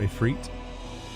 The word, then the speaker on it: Ifrit: where a certain situation happened with a certain Ifrit, or Ifrit, depending on your pronunciation.